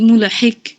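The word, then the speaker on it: ملحق: inna 'adzabaka bil kuffari mulhik হিক না, coffee কলকলা করেন, আবার পড়েন। mulhik মুলহিক, কফ। এই তো, mulhik হিক বললে হয় না, কফ hiq জিহ্বার গোড়াটা উপরে বাড়ি খাবে।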